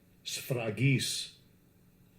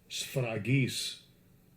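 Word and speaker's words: σφραγίς: Let's let Esau pronounce it. Strong's G 4973. Sfragis. Sfragis.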